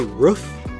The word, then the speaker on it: roof: While people born and raised in the West tend to pronounce the word as if it rhymes with hoof. There's people that say roof.